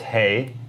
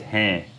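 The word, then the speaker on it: हैं: word here is that it's pronounced through your nose it's nasalized a little bit it's not just hey it's Han so you can you can hear the difference there's a little bit of kind of air coming out the nose there or it's pronounced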